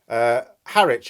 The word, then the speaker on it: Harwich: But as for the other ports, Harwich, apparently the Southerners tell me it's pronounced, usually between 13 and 26 hours to Rotterdam.